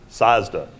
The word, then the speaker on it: Sozda: Sozda. Did I get that right? How do you pronounce that? Sazda.